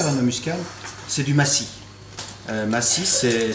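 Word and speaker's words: macis: que je préfère dans un muscade, c'est du massis. Massis, c'est s'écrit M-A-C-I-S, et c'est ni plus ni moins que la fleur de la noix muscade.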